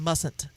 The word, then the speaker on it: mustn't: Mustn't. But there is a T. At the end. Yes, but it's silent. Yeah, but there's a T. M-U-S-T-N-T. Right. So that T is silent.